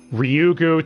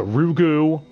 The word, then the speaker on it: Ryugu: firstly the mispronunciations i already mentioned oishii constantly mispronouncing watanagashi as wataganashi watadanashi mayabara tamabra ryugu to rugu it's a bit of a mess from that